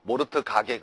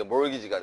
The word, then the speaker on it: mortgage: T가 묵음이에요. T가. 알겠죠? 모르트 가게 그러지 말고 알겠어요, 여러분? 그래서 이게 mortgage가 되는 겁니다.